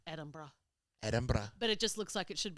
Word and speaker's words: Edinburgh: have some aqua have you had any crazy pronunciations when you were living in Edinburgh the way I said that was so strange